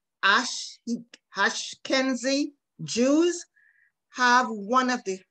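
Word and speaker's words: Ashkenazi: certain type of jews i think it's pronounced ash kenzie jews have one of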